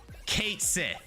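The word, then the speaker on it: Cait Sith: so get this right the Final Fantasy 7 official remake pronunciation of this character is Kate Sith and everybody lost their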